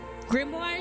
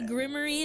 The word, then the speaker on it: grimoire: Grimoire is correct. Grimoire Grim Grimoir. Yeah, cuz that's what Cuz I couldn't figure it out because I've heard people say like grim gi or something like that. like something like really pronouncing the other eye. Yeah, grimarine doesn't in Wicked they say grimary and it bothers the out of me.